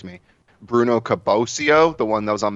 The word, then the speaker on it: Caboclo: pronounce his last name, so correct me, Bruno Caboclo, the one that was on Memphis? Oh, Caboclo, yeah.